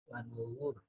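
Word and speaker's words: وَنُذُرِ: Alasannya Karena sebelum ro yang diwakafkan ada huruf berharokat domah. ya, ada domah di sini. Wanuzur, tebal ya, bacanya juga dirasakan dia tebal, tidak tipis.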